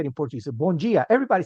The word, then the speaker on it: Bom dia: Bom dia.